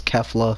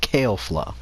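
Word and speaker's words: Kefla: was fighting against kale flop I keep on pronounce her name as Kevlar because that's what the English dub pronounce her name but it's actually pronounced kale flaw so when he was fighting against kale flaw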